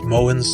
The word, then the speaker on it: Mogens: The correct pronunciation is Mogens Schou. There's a silent G in Moen. The year is 1951. Mogens Schou has just read a report on 10 patients whose mania resolved with lithium.